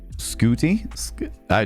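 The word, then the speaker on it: Ncuti: Like, um, likewise with isn't it Scooty? What? Remind me how to pronounce that one. N C U T I E. Cuz it's not pronounced the way it's spelled.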